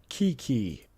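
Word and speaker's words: Keke: to pronounce Kiki. Oh, it's Kiki. Okay. Kiki.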